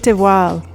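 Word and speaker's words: de Waal: The book she mentioned is My name is Leon by Kit Deval. That's spelled Ki T D E W A L.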